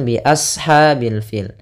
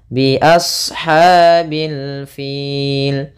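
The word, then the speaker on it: بأصحاب الفيل: namanya warna biru ini shadnya dibaca kita tebal biashha hati-hati juga jangan sampai menggantinya dengan huruf Sin misalkan biashhail fil nah kemudian usahakan juga ada dalam pelafalannya mengalirnya nafas kita biashhabil fil Kemudian pada lafal ha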